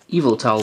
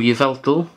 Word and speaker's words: Yveltal: A Yveltal one. Or Yveltal, depends how you want to pronounce it, really.